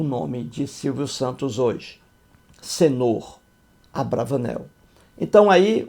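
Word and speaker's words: señor: E a pronúncia é senhor, em espanhol, que significa senhor.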